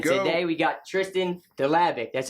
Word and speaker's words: Dlabik: Today we got Tristan Dlabik. That's how you say it, right? Dlabik, okay.